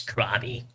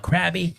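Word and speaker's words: Crawb: name yeah my name's krabi hey how's it going not to be confused with robbie robbie or ruby rob not krabby not it it's spelled c-r-a-w-b grabby crab no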